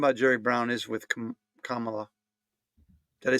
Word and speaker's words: Kamala: you say your name how do you say her name Kama or no vice president Harris Kamala Kamala Kamala all right now we can say it so we've learned something